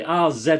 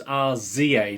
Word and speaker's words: RZA: well i i'm british i would say r za but obviously it doesn't sound quite as good as our z a does it which obviously is the the american pronunciation of it obviously but i'm old